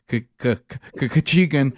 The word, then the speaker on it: Khachigian: more minutes with Ken kachan um Ken Ken has written the book behind closed doors he taught us how to say his last name but like we're sneezing uh we it's been